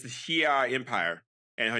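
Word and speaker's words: Shi'ar: Yeah, Shia.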